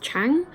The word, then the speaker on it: Zhang: on the screen here, it's spelled like Zhang, but it's pronounced like Chang, or at least the way the narrator on the audiobook is pronouncing it, that's how it sounds.